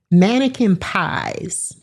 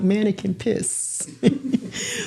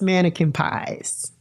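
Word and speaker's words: Manneken Pis: And the fountain is called Mannequin Pies. But pies is spelled P-I-S. So it looks like mannequin piss. But it is pronounced Mannequin Pies.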